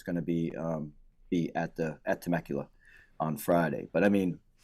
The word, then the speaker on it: Temecula: April 28th through the 30th, and this is going to be at Temecula, California. I cannot believe you pronounced that correctly.